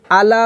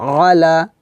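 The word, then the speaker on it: على: আর এটা কিন্তু আলা হবে না, কি হবে আলা, কারণ এটা হচ্ছে আইন, এটা হামজা না।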